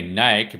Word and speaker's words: Nike: Because instead of saying Nike, because like that's the supposedly the right pronunciation of the brand Nike. But I like to say Nike because it's like saying bike or hike.